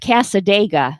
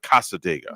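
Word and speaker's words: Cassadaga: Kind of like Talladega, but Casadega.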